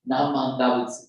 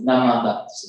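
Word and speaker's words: Namu Amida Butsu: They're going to say, Namman Dabutsu, Namman Dabutsu, Namman Dabutsu. And I said, Namman Dabutsu.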